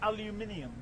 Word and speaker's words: aluminium: It's pronounced aluminium.